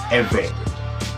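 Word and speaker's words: עברי: In English, you will spell this I-V-R-I, and it's pronounced Eve.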